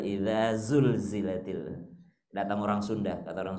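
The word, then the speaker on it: إِذَا زُلْزِلَتِ: Jadi orang Sulawesi kalau mengaji itu Bismillahirrahmanirrahim, Isa sulsilatil ardu silsalaha. Jadi S semua. Isa sulsilatil ardu silsalaha, kata orang Sulawesi. Datang orang Jawa, enggak gitu bacanya. Terus gimana Mas? Ijajul jilatil ardu jiljalaha. Jadi J semua. Padahal idza zulzilatil.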